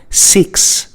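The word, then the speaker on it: six: 6. This word consists of 3 letters only, S-I-X. But when we pronounce it, when we say it, we have 4 sounds.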